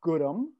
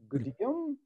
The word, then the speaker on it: Gudim: I don't use my last name because it's pronounced Gudim. That's the way I pronounce it. It's spelled G-U-D-I-M. And some people say, is that Gudim?